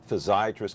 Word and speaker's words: physiatrist: Crocker, let me ask you first of all, so, you know, physiatrist kind of rhymes with psychiatrist.